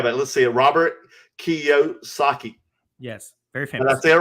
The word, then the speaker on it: Kiyosaki: Robert Kiyosaki.